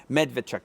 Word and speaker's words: Medvedchuk: There are two pictures of him, but they're literally posting pictures of this guy, Victor, and Medvedchuk. Is that my pronunciation? Medvedchuk, yes.